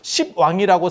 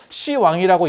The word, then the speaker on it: 시왕: 그래서 십왕이라고 쓰고 시왕이라고 읽는 게 아니야. 그냥 시왕이라고 쓰고 시왕이라고 읽어.